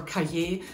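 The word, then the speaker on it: Cailler: buy some chocolate bars i would go for caje because it is really creamy it's spelled c-a-i-l-l-e-r but unfortunately you have to come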